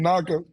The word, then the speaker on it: Nacua: And I never heard of him, I'll be totally honest with you, but I don't want to pronounce his name wrong. Nacua something like that. Nacua.